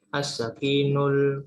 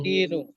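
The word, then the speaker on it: السكين: As-sakinul kabiru. As-sikinu. Bacanya as-sikinu. Ya.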